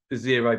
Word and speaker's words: Xero: to talk about is zero projects xero is a counting tool effectively it's spelled x-e-r-o and we use this as